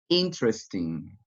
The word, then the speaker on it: interesting: go with the next interesting interesting we not pronounce very good letter e that interesting next miserable